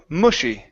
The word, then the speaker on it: mushy: the Park yeah so open your mouth just a little bit more on that vowel M mushy and mush mush there you go that's it m Mushi and Mushi father out